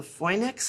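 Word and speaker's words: Finnx: grounding is the foex adapter it's called f it's spelled f i n n x the other ones I've tested don't convey grounding so you use that in conjunction so the fex adapter you use shielded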